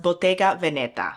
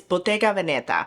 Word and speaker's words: Bottega Veneta: the US pronounce it, but it is technically pronounced Bayga Veneta. It's an Italian brand. Give an ode to our Italian friends. My husband is half Italian. It's Bautga Veneta.